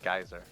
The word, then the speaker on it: geyser: new wall ender geyser a lot of people call it gazer i don't know why it's called pronounced geyser so geyser this is his most